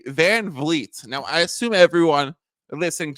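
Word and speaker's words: VanVleet: Dylan Brooks and Fred Van vet tov's F van vit now I assume everyone listening to this is like why is Mike reemphasizing how you pronounce Van Fleet because it's not van Fleet you know when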